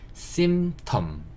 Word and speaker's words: symptom: 조금 어려운 단어인데 symptom 이렇게 되는 거고요. SYM 여기까지도 sim 잡으시고, P는 거의 묵음이라고 보시면 돼요. 소리가 안 나는 글자고요. 그 다음에 TOM 잡아서 symptom 이렇게 발음하시면 되는 단어고요.